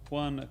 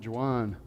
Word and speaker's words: Juan: yani will realize that your name is juan not juwan we can all hope